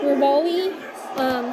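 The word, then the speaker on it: Revali: I think people pronounce him as Rivoli.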